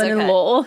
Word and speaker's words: linalool: pronounce that wrong. That's linalool.